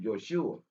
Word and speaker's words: Joshua: hand and told Yeshua, Joshua, but we would pronounce him in Hebrew, Yoshua, but there was no J.